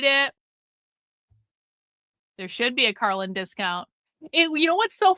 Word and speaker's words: Karlyn: single one of them pronounces my name differently. So, Vintage Frames calls me Carly. One of the one of the the the girls I get my purses from, she calls me Carlen. Like, they call they've called me Carolyn. Caroline, like all the different things. I think a few people have actually gotten my name correct and they've called me Carlin, but almost every single